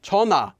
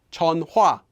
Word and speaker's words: 전화: kami not kam he and chana is pronounced like chona not chon hua and like anything in